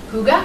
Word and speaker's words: Hygge: But Sarah is the founder of Healthy and Hygge.